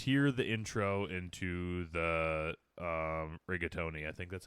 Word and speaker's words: Rougarou: All right, so let's just hear the intro into the rigatoni. I think that's how it's pronounced. rigatoni, close. Yeah. The Rougarou.